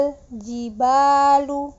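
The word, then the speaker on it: الجبال: ke contoh pelafalan jika alif lam bertemu dengan huruf Jim Hai hitut dikata al-jibaal uh hal gibal uh Hai alg balu Hai hal jibalu huruf lam sukun dibaca jejel as juga Sama ya kita lanjut ke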